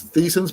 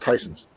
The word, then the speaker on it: Tyson's: It looks like it says Theson's, but it's pronounced Tyson's. Don't ask me how or why.